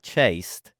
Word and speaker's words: chaste: Not chased. C H A S T E. Not E D.